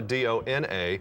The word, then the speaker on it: Dona: And the original pronunciation of my name was supposed to be Dona.